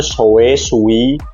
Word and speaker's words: Shoei: Oke, di tangan saya sekarang ada helm Shoei, bacanya tuh Sui X14 atau X14, motifnya Motegi.